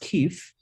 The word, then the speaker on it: kif: Yeah, so it's pronounced Keef Life, and this is well, it doesn't pass the radio test.